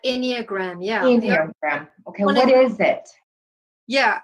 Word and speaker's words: Enneagram: Is that how you pronounced it? Enneagram? Right, Enneagram, yeah. Enneagram.